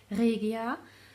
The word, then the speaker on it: Regia: Okay, this is Regia, or pronunciation in German, Regia, 6-ply.